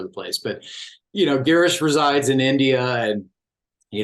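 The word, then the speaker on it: Girish: sure I have it straight I said g geish pron correct I think I sent a voice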